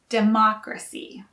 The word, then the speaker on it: democracy: democracy democrat and democratic again the stress is on the first syllable for democrat and democratic but the stress is on a second syllable for democracy in the u.s there